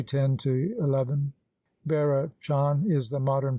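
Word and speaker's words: Bearachán: vera john is the modern pronunciation of the older bird the story barrett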